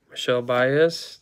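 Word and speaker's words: Michel Báez: And last pack of the first blaster, Michelle Baez.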